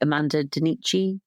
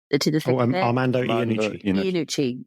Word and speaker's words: Armando Iannucci: It's the new I never pronounce his name right. Amanda Dinici. Armando Iannucci, yeah.